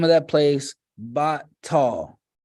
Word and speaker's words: Bethel: And he called the name of that place Batal, or Bethel, as we pronounce it. Batal in Hebrew.